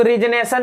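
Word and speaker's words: resignation: ये वर्ड समझिएगा, रेजिग्नेशन, रेजिग्नेशन, रेजिग्नेशन। इसको रिजनेशन भी पढ़ते हैं, ठीक ना। रिजनेशन, रिजाइन नहीं होता है, रिजाइन से आता है रिजनेशन, ठीक ना।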